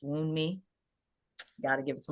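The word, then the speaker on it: Wunmi: Um, but I think that I think her name is pronounced Wound Me.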